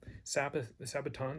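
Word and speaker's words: σάββατον: So Sabbaton sounds like Sabbath.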